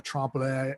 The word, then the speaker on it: trompe-l'oeil: The trompe-l'oeil.